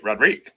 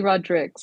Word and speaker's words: Rodriques: okay I feel terrible it's actually Rodricks it has like the S at the end too oh it's like it's